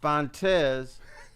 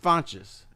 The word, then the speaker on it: Fontes: And they all pronounce their last names different ways. Differently. There's Wayne Fontes, there was Fontes, and there was Fonches.